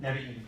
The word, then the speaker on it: Nevi'im: So how you say it, Nevi'im? Nevi'im, yeah.